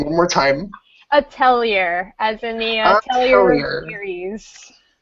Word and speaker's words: Atelier: Erika, give me the pronunciation one more time. Atelier, as in the Atelier series.